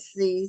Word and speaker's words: Seay: don't have uh sound you pronounce my name like the alphabet C oh okay C because it spell SE a y and so I was like okay two syllables or one but it's pronounced yeah the Y is silent